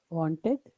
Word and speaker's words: want: wanted to want okay the sound is one one okay one can you hear it yes i hear this